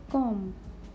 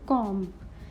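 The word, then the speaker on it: comb: which letter B is silent first word is com here B is silent we will not say comp we will say com Kanga next is climb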